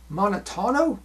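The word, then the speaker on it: Monatono: to reveal now Val Valentino was born Leonard monotono let me spell that for you m o n a t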